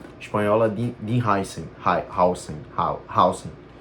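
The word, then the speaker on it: Huijsen: Hausen, é como se pronuncia, porque ele é um cara alto, mas ele não é um armário que nem Conatei Van Dije, por exemplo.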